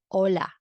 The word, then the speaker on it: hola: So you have to read this as hola.